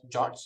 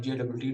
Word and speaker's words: JWT: have heard this so JWT stands for Json web tokens which is pronounced as jots you folks call it jot tokens you can call it JWT tokens whichever way you